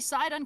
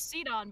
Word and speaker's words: Sidon: on it's not obsidian i think it's supposed to be sidon because it's like the second half of poseidon um what i think it's said on yeah i always thought it was ceton but then i watched